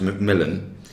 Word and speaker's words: McMillian: that's the attitude um mcmillian his name spelt mcmillian but it's always pronounced macmillan and usually referred to